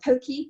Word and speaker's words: poke: nice and it's now very popular they're called pokey bowls p-o-k-e but it's pronounced p-o pokey pokey poles and you can do it with